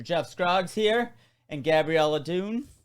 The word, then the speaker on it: Duhn: to have mr jeff scroggs here and gabriella dune right right did i say it right that's